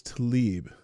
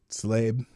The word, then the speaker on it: Tlaib: I always thought it was Talib. Did she spell her own name wrong? No, I think that's right. Tlaib is how it's actually spelled. Slabe.